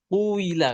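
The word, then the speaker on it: قيل: Kalau quala kalau dimajhulkan cara bacanya adalah quila kan.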